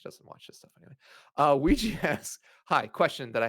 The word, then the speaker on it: Ouija: OUI and you pretend you're French, oui, G, Ouija.